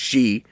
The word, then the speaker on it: Xi: It's actually pronounced Xi. But who has who named Xi? Xi Jinping of China.